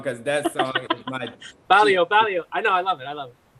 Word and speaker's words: barrio: Barrio. Barrio. Yeah, like Mario. Mario. Oh, like Mario.